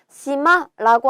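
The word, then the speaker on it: 島: 시마라고 하는 게 섬이에요. 섬은 시마라고 읽어주시면 됩니다.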